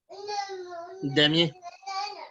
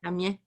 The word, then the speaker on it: Damien: Yeah, Damien. Damien. Damien. Damien. Damien. Just skip the last couple letters.